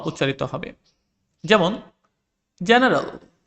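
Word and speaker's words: general: যেমন জেনারেল, এখানে দেখো জি এর পরে ই রয়েছে, সেজন্য এটার উচ্চারণ জয়ের মতো হয়েছে।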